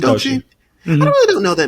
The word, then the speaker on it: Doechii: Am I pronouncing her name right? Is it Doechii or Doechii? It's Doechii.